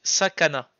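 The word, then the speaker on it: さかな: la prononciation, donc c'est Sakana. Sakana. Sakana. Ça fait beaucoup de A. Oui, bah il y a trois syllabes en A.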